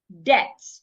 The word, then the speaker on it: debt: According to a rule, when you have letter B before letter T, most times the letter B becomes silent. Debt.